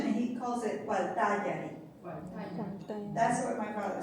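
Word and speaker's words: Gualtallary: So if I pronounce it Guaytayari, is wrong pronunciation? No, that's good.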